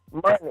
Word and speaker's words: MONI: Is it MONI or Money? I got to make sure I'm saying it right, because I really didn't know. Money is money. It just felt that way.